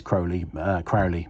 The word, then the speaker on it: Crowley: Well, I pronounce it Crowley because he rhymed it with holy in one of his poems.